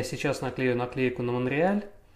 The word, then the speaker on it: Монреаль: поэтому если на английском это Montreal, я говорю Монтреаль, на самом деле, естественно, правильно произносить Монреаль.